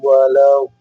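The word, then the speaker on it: ولا الضالين: Nah, ingat D ini adalah salah satu huruf yang sulit untuk diucapkan oleh kaum muslimin. Dan ingat ee makhraj huruf D itu tepi lidah ya dengan gigi gerham atas sebelah kiri atau kanan ya.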